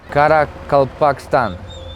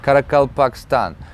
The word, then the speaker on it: Karakalpakstan: Karakalpakstan. Wow, first try. It's kind of a tongue twister to pronounce this. Karakalpakstan.